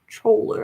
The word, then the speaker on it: choler: Choler, I don't know this word. What is this? Oh, it's choler. It's spelled Choler.